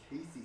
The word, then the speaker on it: Cayce: Casey, she's in Casey, South Carolina. Another one I've never heard of, Same. Never heard that one. and it's spelled Cayce.